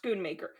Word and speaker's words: Schoonmaker: Oh, Schoonmaker. It's pronounced Schoonmaker.